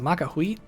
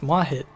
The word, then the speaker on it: Mahit: I called him Makahuit. It's Mahit.